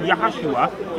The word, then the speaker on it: Yahushua: kind of things because because Jesus which is which in there properly pronounced in yahushua and it means yahweh is salvation that's what jesus your